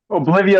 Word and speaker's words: Oblivea: I hope I'm pronouncing it correctly. Oblivia is correct.